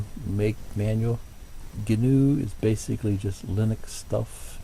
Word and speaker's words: GNU: Some people pronounce that with the G, and some people just say new. New. Pretty sure it's pronounced GNU.